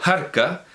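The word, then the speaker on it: harca: Por cierto, digo Jarca, y lo digo con toda la autoridad de la Real Academia Española, que dice, o decía hasta hace muy poco, la última vez que lo vi lo decía, que esta palabra ha de pronunciarse aspirando la H.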